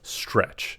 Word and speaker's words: STRC: Now we have STRC or Stretch is how it's pronounced.